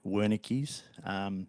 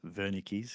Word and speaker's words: Wernicke: I will be pronouncing it Wernicke's, although technically it is Wernicke's because it's German, unless you drive a Volkswagen.